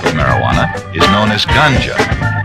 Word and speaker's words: ganja: a second type of marijuana is known as ganja it's spelled g-a-n-j-a ganja has a high resin content